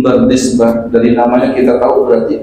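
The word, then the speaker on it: Bardizbah: Waqad rawahu Imam al-Muhaddisin Abu Abdillah Muhammad bin Ismail bin Ibrahim bin Mughirah bin Bardisbah, itu bacanya tuh bin Bardisbah, dari namanya kita tahu berarti bukan orang Arab.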